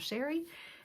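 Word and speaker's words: Chere: It is spelled a little fancy but pronounced plain old Sherry.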